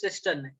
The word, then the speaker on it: cisternae: Okay, someone in last class also asked me about the pronunciation of that word. It is cisternae.